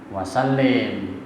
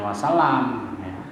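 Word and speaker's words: وسلم: lafaznya begini Allahumma sholli maka bacanya wasalim bukan Wassalam tapi kalau Shallallahu kalau salat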